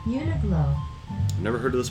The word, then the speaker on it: Uniqlo: Uniqlo, that's our pronunciation.